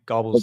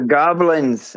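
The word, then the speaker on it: Gawblenz: On all on all your videos, you've always mispronounced their name. You've called them gobbles. Yeah, gobbles. That's But they're they're goblins.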